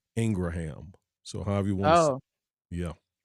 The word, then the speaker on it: Ingraham: Hannity and um Laura Ingram yeah I heard somebody say her her the pronunciation of her correct name is really Laura Ingraham so however you want